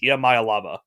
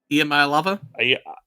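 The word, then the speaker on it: Iamaleava: the quarterback for Tennessee it's IAM Maya lava I think that's how I think it's how you pronounce it it's emaya lava EMA lava I put that in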